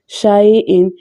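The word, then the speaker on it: شَيْءٍ: We don't have to stretch it. Shay'in, we have to pronounce in an Arabic accent without any elongation and suddenly pausing the voice.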